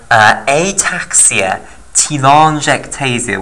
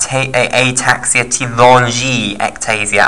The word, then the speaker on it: telangiectasia: And that some people pronounce that ataxia telangiectasia, i.e. they pronounce the I in the name more than I am. Ataxia telangiectasia and RAD3 mutated. I think both ways of pronouncing it are okay.